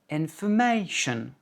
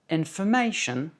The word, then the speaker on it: information: Par exemple, en anglais, on dit education, information. Donc, alors qu'en français, on dit information, éducation, en anglais, information, education. Donc, c'est uniquement une histoire de hauteur de voix.